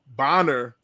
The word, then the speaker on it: Bonner: Now, we've been on for an hour and a half, and it says Bonner, not Boner, Luke.